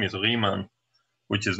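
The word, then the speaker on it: Riemann: was German and and ie in German is pronounced e so his name is rean which is not gonna stop you from saying Ryman because for some reason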